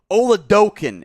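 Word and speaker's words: Oladokun: here south dakota state chris oludokin is how you pronounce that one this is a very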